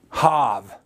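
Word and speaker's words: chav: Now the next word, agape, you see, or its Aramaic equivalent, hav. It's spelled C-H-A-V with a silent C.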